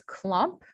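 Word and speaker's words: klomp: with an um the the ah sound is spelled with an o also in dutch the kha sound is spelled with the k and so the correct spelling of clomp would be k-l-o-m-p so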